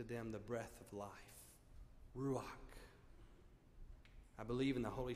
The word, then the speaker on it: ruach: do the holy spirit in Hebrew is Rock r u a c h Rach I wish I could say it like a Hebrew a Jew ruach it means breath it